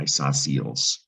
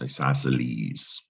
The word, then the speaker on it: isosceles: word isosceles and uh the c in isosceles is silent right the other thing about this word you actually pronounce the e at the end isosceles right it's not